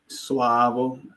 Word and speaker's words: Suavo: So, I notice you know in in in English we have like two different ways to pronounce a, right? A is an ah like swavo a and then and then you may have maybe a sway sway is still using a but sway but in Spanish I'm learning a little bit of Spanish it's always the same a swah okay it never the